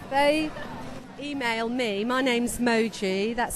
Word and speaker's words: Moji: with okay if they email me my name's Moji that's spelled m oji if you put press at roler Derby lester.